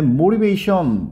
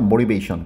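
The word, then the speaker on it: motivation: 뜻이 되고요 그 다음에 모리베이션 모티베이션 이렇게 발음을 갖다가 알처럼 발음하죠 모리베이션 그래서이 동기라는 뜻인데이 동기가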